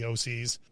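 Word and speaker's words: Thee Oh Sees: I don't even know if you're supposed to say it that way or the OC. Okay, it's the OCs. Yeah. Okay, and it's spelled odd. Yeah, it's like it's spelled the and then OH and then SEES. And the is THEE.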